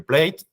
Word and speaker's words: plat: put that in your plate. And the last one, the dessert. You've noticed, I think, that we don't pronounce the last letters, plat, dessert. And then once you are facing this, you can make a choice.